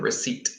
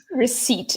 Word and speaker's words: receipt: paid is your receipt pay attention to this pronunciation receipt receipt exactly no pee when you go to